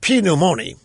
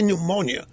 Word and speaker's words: pneumonia: has come down with Pinot Moni by the way that pronunciation is from The Beverly Hillbillies from way way back in the 1960s had people sending me even what can't you say pneumonia yes I can it's